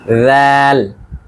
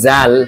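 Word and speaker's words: ذال: খেয়াল রাখবেন, রাল বলার সময় আমরা একটু আগে যেভাবে সা উচ্চারণ করেছিলাম, জিহ্বার একদম সামনের সাইডটি উপরের দাঁতের সাথে আমরা লাগিয়েছি, ঠিক একইভাবে রাল বলতে হবে আমাদের। রাল রাল রাল। আমরা যদি বলি জাল তাহলে কিন্তু হবে না, পার্থক্য বোঝানোর জন্য দুটি পাশাপাশি রেখে দেখাচ্ছি।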